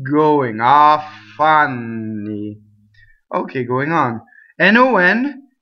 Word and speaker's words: non: N-O-N is closed non, right? The word no, N-O in Italian, is open, no. So non, no.